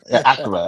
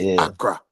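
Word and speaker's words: Accra: She said, "Ara, Acra, Acra, Acura, right?" I used to say Acura and like that. So, I used to say that They told me, "Yeah, Acra."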